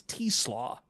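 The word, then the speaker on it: TeSlaa: Isaac, and now it's spelled like Tesla with an extra A and an S that's capital, but it's T-Slaw because it's Dutch, because of course it is.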